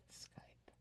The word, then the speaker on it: scythe: Sith. But they're talking about the thing she's holding. Scythe.